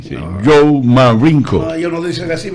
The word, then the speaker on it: Marenco: Cualquiera entonces, puede decir que el apellido es Marenco, no, es que la americano pronuncia la E como I, ¿sí? No. Joe Marenco.